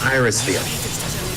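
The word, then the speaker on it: Irisviel: be able to iris is it is it pronounced iris steel yeah thank god yes iris feel because she isn't had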